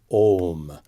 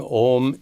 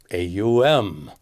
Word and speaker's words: Om: more people are spelling Om incorrectly as A-U-M, which represents the Sanskrit letters A, U, and Ma. Even worse, some people pronounce it as AUM, which makes me cringe.